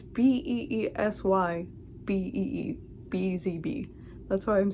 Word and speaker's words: BeesyBee: BeesyBee Fibers it's B E E S Y B E E.